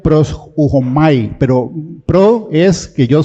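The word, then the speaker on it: προσεύχομαι: En el griego eh se pronuncia pros ujomai, pero pro es que yo soy pro.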